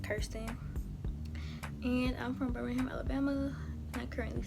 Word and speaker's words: Kirsten: frequently asked questions so my name is pronounced thirsty and I'm from Birmingham